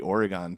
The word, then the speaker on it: Oregon: right Oregon, Oregon, Wisconsin.